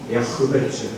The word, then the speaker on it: 야베스: 우리는 이제 발음이 야베스인데 원래 히브리식 발음은 야흐베츠. 이게 막 뭐라 할까요? 거친 사운드가 락 사운드가 섞여 야흐베츠인데 그냥 야베스라고 할게요.